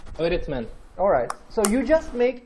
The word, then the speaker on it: öğretmen: When you see this letter, it's usually before a vowel sound. So what you do is basically make the vowel sound longer. Okay, let's try it. Repeat after me. Öğretmen.